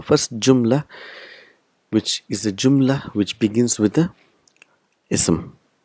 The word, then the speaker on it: Jumla: what are those sentence is called Joomla in Arabi but we will pronounce it Joomla the last letter is not to pronounce so first Joomla will